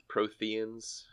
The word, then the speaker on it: Protheans: We got Proteans and unreadable glyphs. Protheans. It's a silent H. It's a silent H. Like in herb.